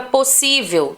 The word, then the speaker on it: possível: A penúltima é a que recebe esse acento aí, tá?